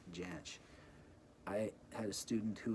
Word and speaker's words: Jansch: And it is pronounced Jansch.